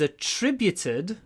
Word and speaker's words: attributed: This song is attributed to Henry VIII. So, stress on the second syllable. Attributed. Attributed to Henry VIII.